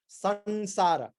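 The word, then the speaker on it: saṃsāra: This world, let us refer to it as samsara. Sansara. Actually, the anuswara should be pronounced as an, but sometimes in English it's written as samsara.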